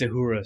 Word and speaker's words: Uhura: And it's Uhura, Star Trek fans.